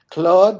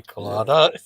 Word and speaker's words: Claude: Claude rhymes with fraud, and we can know that to be true.